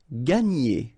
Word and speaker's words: gagner: Gagner. Okay, so it's interesting because when you combine this G and A, you get the sound ga.